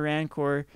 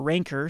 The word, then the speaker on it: Rancor: just this in a Rancor you have or ranker sorry I'll pronounce it right before you yell that